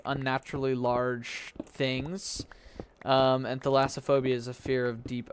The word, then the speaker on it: thalassophobia: I low-key have, like, Thalassophobia. I think that's how you pronounce it. Thalassophobia. Not Thassilophobia. Yeah, no, it's Thalassophobia.